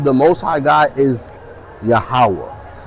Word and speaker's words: Yahawah: So the God of our ancestors, his name is Yahawah. Some people pronounce it Yahuwah. Some people pronounce it Yehovah. Some people pronounce it Yahweh.